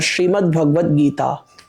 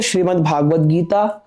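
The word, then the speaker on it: श्रीमद्भगवद्गीता: प्राय लोग सबसे बड़ी गड़बड़ी कहां करते हैं? नामो उच्चारण में कर देते हैं। जैसे लोग कहेंगे श्रीमद् भागवत गीता और श्रीमद् भागवत। देखिए श्रीमद् भगवत गीता और श्रीमद् भागवत महापुराण आपस में भिन्न है और इस विषय पर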